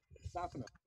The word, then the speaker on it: Distefano: Well, I would like to introduce Dustin Distefano. Did I pronounce that correct? Distefano, it's close. Distefano.